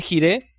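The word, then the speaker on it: jireh: Jehová proveerá Jehová yé se escribe jiré y se puede pronunciar yire como el hebreo Dios proveerá y Dios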